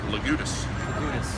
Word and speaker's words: Legoudes: u d e s how do you pronounce that lutus yes